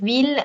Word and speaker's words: ville: this goes away, and hence I'm left with ville and mille.